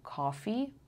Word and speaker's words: coffee: لغت کافی و آفیس هم به این صورت تلفظ میشن جفتشون. So boss, coffee, office. اوکی همشون صداشون انگار بلند یک کوچولو وقتی دارین میگین انگار خیلی خیلی خیلی کم حالت لبتون انگار گرد میشه.